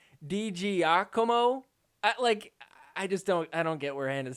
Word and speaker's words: DiGiacomo: Giacomo? How do you get that from this? Like, even if you wanted to try and mispronounce that, DiGiacomo, I don't get where Hannah's head was at.